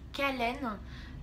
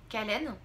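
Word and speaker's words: Kahlen: suivons donc la gêne kallen j'espère que ça se prononce comme ça parce qu'elle passe 2e c'est khl e n kallen qui est transformée dès les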